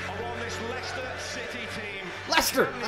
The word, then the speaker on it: Leicester: Leicester!